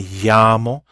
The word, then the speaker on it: llamo: Spanish alphabet officially, but it's pronounced like a Y sound, like me llamo, me llamo. Okay, some people say me llamo. It kind of emphasizes that double L a little bit more, me llamo or me llamo.